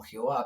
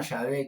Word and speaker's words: Yahvé: por otros nombres, pero incluso por diferentes pronunciaciones como Jehová, pero el Dios se llama Yahvé, que quiere decir yo soy.